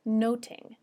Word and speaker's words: nothing: nothing in Shakespeare's time the word nothing may have been pronounced more like noting n-o-t-i-n-g and in many